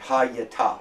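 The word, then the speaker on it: הָיְתָה: Where does the accent naturally fall in Hebrew words? On the last syllable.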